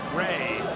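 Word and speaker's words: Jui: And I know that is spelled Chung J-U-I Sung, but that is pronounced Ray.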